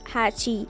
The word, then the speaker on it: Hachi: kanji representing number eight with Japanese pronounced Hatchi so he decided to